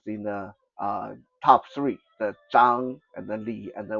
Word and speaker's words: Zhang: In English, it's spelled Zhong, Zhong, but it's just pronounced Zhang. Okay, so Wang, Li, Zhang, those are the three most prevalent Chinese family names.